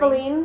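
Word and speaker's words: Faline: Faleen or Fallon? Faleen. Like Bambi and Faleen.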